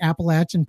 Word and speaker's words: Appalachia: a joke about that you say it wrong they'll throw an apple at ya so I remember that